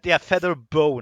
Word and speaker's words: Featherboa: Anyway, feather bow, not boa. Although feather Well, boa it's spelled like that, but it's feather bow. boa has all kinds of different implications. How about just put a B-O? Feather bow. Feather bow, like a bow stick.